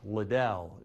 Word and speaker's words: Liddell: And defensively, one of my favorites, and his mom Vicky wants it pronounced Liddell, Josh Liddell.